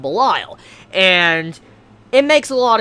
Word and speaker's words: Belial: related to someone called Belial. Now, different pronunciations to the name, but the reason why I know how to pronounce it this way is because I played a game called Diablo. If you ever played a